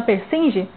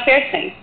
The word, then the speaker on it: Persinge: Mas a pronúncia do seu sobrenome é essa mesmo, Persinge? É Persen.